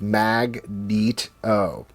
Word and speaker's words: Magneto: The way that you pronounce that is Magneto, right?